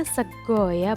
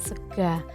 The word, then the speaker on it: sego: pertama yaitu sego jamblang anak ini membacanya sekoya bukan segar nah seko jamblang ini